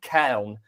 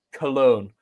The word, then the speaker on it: Köln: Anthony Rachopi is heading to FC Köln, is the German pronunciation, or for slightly more layman's British, because we're English and who cares, translation, Cologne. Rachopi will go there and